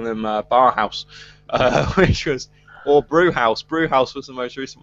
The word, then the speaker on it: Bauhaus: Or Brewhouse. Brewhouse was the most recent one. Is that German? Bauhaus? Yeah. Then it would be pronounced Bauhaus as in the German art school.